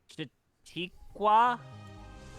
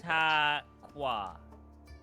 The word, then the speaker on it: Chautauqua: So you said that it's pronounced Chitikwa? I feel like know you how it are is. getting dangerously close to just like mispronouncing African American people's names. Dangerously. Chautauqua. Chautauqua. Chautauqua.